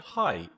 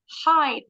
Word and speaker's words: height: Nah, walaupun sama-sama E-I-G-H, G-H-nya silent, tapi E-I diphthongnya bunyinya bukan E, bunyinya I. So this word, height bacanya. Tinggi badan, height.